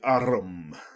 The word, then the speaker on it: arm: He pronounced it arum.